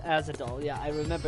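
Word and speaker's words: Ahzidal: No, it's pronounced Azadol. Yeah, I remember it's Azadol, but I was making a joke.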